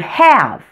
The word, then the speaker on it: have: for the word have the word have is pronounced for the short a but it has the long a spelling meaning that it has an e at the end of the word this is an exception to the rule now here's a challenge